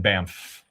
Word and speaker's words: Banff: So, if you guys are in Banff for anything like that, want to stop in the shop, you can always slap my high five.